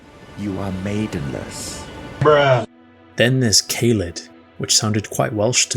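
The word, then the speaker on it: Caelid: are Maiden then there's kalid which sounded quite Welsh to me when I first came across this place I later discovered that K or Kai in how it's pronounced in Welsh means field and lid means inflammation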